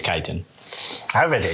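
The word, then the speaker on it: chitin: I think it's Kiten. I read it. It's Chittin. It's spelled C H I T I N. It's Jitten.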